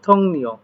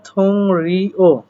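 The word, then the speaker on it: 동료: এখানে বলছে থংনিয় এখানে উচ্চারণটা এরকম হওয়ার কথা থংরিও বাট ইয়ং বাচমের পরে রিউল আসলে রিউলটা দন্তন ন হয় সেজন্য এখানে উচ্চারণ হচ্ছে থংনিয় এই থংনিয় শব্দের অর্থ কি?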